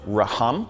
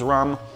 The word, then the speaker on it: Rhum: flavor in here yeah I'm calling it Toppers raham cuz they got an H in there I know you guys like to tease me about my pronunciations just trying to make sure I get it right both ways Toppers rum or Toppers rum well I love bringing